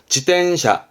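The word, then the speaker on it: 自転車: 스스로 굴러가는 차란 의미인데 발음은 지텐샤 지샤 자전거의 샤가 있습니다 요거는 뭘까요 승 승차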